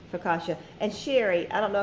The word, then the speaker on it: Focaccia: yep that's unbelievable okay Coco said how to pronounce that amazing Focaccia Focaccia and Sherry I don't know if Sherry you